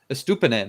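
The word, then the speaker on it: Estupiñán: Estupinan. There you go. You can just say you stupid nan if you want.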